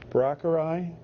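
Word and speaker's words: Braucherei: known as powwow, or help me out, George, Brockerai. Is that the correct pronunciation?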